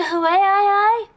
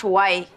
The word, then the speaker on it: Hawaii: The trip to Hawaii? It's pronounced Hawaii. I thought it was Hawaii.